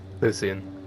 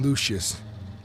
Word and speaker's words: Lucian: to say it wrong it's uh Lucian Lucian I was saying Lucius all right Lucian you